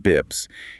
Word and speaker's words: bps: So, a basis point, often abbreviated as bps or pronounced bips, is simply 1/100 of 1%.